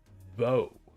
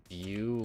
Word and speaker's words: Vue: JavaScript and Vo. I don't even know if that's how you pronounce it. It's pronounced Vue. Okay. Vue. That makes a lot more sense.